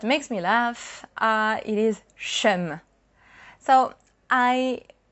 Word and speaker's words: cheum: But here, see, it's not chum. It's chum. We kind of made the word evolve.